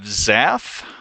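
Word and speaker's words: Xath: uh whatever this is um so we have Zaff uh that's spelled x-a-t-h they are responsible for the snakeway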